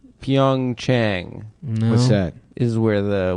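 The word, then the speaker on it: PyeongChang: Pyongyang. Pyong Chang. What's that? is where the Winter Olympics are. Is it pronounced Chang or Yang?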